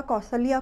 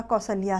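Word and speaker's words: कौसल्या: हम माता कौशल्या को माता कौशल्या कहते आए हैं, जबकि सही उच्चारण माता कौशल्या है।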